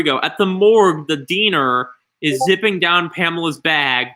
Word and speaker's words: Diener: At the morgue, actually, before we do this, I need to find out how to pronounce. Okay. Diener. Okay, here we go. Diener.